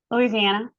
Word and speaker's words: Louisiana: Louisiana.